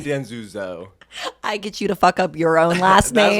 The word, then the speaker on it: Danzuso: it's your last name people always do have trouble with it it's Dan zuzo Dan zuzo yeah so weird it